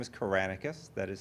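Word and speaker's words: Kyranakis: first name is but last name is kranus that is spelled k y r an a k i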